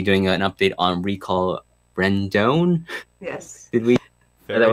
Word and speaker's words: Rendon: I'll also be doing an update on recall Rendon.